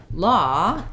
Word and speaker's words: law: just look at um law is our ah vowel that we were talking about um with the word thought that o-u-g-h um so we have